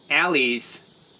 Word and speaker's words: alley: Alleys, or Allie, is spelled A-L-L-E-Y. But of course, if you take out the E-Y, you don't say it as al, you say it as all.